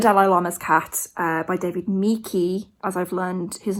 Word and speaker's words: Michie: through actually the Dalai Lama's Cat by David Mikey as I've learned his name is pronounced um so I've been listening to this